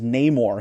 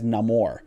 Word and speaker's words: Namor: pronounce it the Submariner doesn't pronounce his name as um as Namor he actually pronounces as as Namor right kind of cool